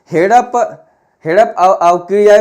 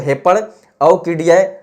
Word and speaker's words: हेपड़ अवकिड़िया: में पढ़ें, ठीक है, हेड़प अवकिड़िया बेर खड़िया कविता एवं लोक कथा संग्रह इन्हीं की है। ठीक है, इसको अच्छे से प्रोनाउंस करें तो हेपड़ अवकिड़िया, ठीक है, ये इया है।